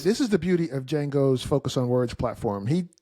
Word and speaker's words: Django: It's a rare name, Django. It's so rad. It just reminds me, you ever see that movie? Django It was called Unchained? Django with Jamie Foxx. Django Unchained. Django, Yeah. the D is silent.